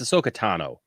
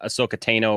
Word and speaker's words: Ahsoka Tano: Besides, but by the way, it's Ahsoka Tano, not Ahsoka Tano or whatever he was calling her. He said like a long A or something.